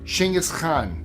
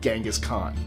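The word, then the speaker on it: Genghis Khan: He wasn't American, so it would not be called Gangaskhan, just in case you're wondering why I pronounced it that way. That's how the Mongolians pronounce it.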